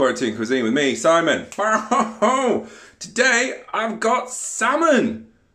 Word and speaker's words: Simon: you salmon it it is yeah yeah they pronounce my name salmon from time and afterwards like it guys come on it's Simon Simon and so they came out to me